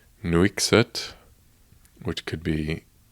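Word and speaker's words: Nuiqsut: live around the area in a town called nuixit which could be pronounced very incorrectly but it's n-u-i-q-s-u-t and there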